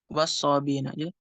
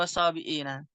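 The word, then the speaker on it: والصابئين: Nanti wasobiina bacanya tashil. Wasobina. was-sabina. Innal ladzina amanu wal ladzina hadu wan nasara was-sabina. Bukan was-sabiina. Misalkan.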